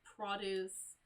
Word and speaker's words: produce: So in this case, produce, if we're referring to fruit and vegetables, the syllable is on the first half of the word.